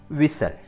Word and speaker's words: whistle: Number 4, whistle. And the silent letter is T.